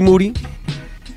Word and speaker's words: Moody: in here with G moody last name rhymes with duty yeah um always ready